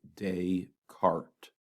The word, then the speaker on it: Descartes: decart's Rule of signs this is pronounced day cart decart so day carts rule